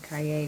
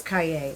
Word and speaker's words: Calle: mail people's names here my first impulse was to say kaye because it's c-a-l-l-e and that would be it is kaye okay sophie kaye which is she was born in france but i'm using the spanish pronunciation doesn't matter okay let's